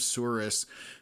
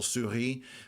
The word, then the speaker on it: Souris: for the French people, Souris, I always make fun of how they pronounce things out there because a lot of it is French related, but it's pronounced with an English accent, I guess.